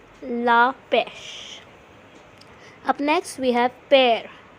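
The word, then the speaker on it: la pêche: LA from bua's next is peach it is La pesh La pesh La pesh up next we have pear it is La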